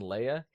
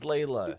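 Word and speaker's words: Leela: You guys fucking say a name wrong all the time. You guys call her fucking Leia? That's Layla.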